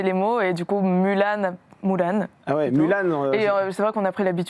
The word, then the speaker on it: Mulan: Mulan d'ailleurs tout à l'heure moi je disais Mulan mais vous vous prononcez Moulan.